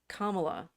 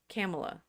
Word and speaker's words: Kamala: can't say her name Kamala Camala yes Kamala yeaha Kamala so in names the the emphasis tends to be on the last syll right it means flower